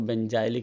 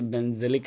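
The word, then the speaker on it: benzylic: हैं बेंजल halide, या कई बच्चे उसको बेंजाइलिक हैलाइड बोलते हैं, तो हम लोग उसे क्या बोलेंगे भाई, बेंजाइलिक हैलाइड। कोई बच्चे बेंजिलिक हैलाइड बोलते हैं ना, बेंजिलिक हैलाइड। तो मैं कहूँगा भाई मेरा प्रोनाउंसिएशन अलग है, आपका प्रोनाउंसिएशन अलग है यार, दोनों को सेम ही मान लेते, क्या ही जाता है हमारा।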